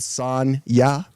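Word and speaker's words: Sonja: is this is the first appearance of Red Sonya what that's pretty cool yeah that's and that's literally how Conan actually pronounces it son- ya Sonia very cool it was a lot of fun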